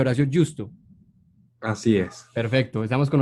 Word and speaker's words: Horacio Justo: Hoy estamos con Horacio Justo, así se pronuncia Horacio Justo.